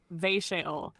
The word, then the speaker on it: Ve'She'el: Her name is Ve'She'el, pronounced Ve'She'ol.